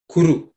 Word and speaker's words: Kuru: So hereafter, when you chant Nirvignam Kuru, don't ask for Nirvignam Guru, you know, so it's incorrect.